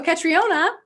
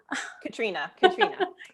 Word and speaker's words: Katriona: Oh, Katriona. Katrina. Katrina? Thanks, Okay. Yep, the O is silent.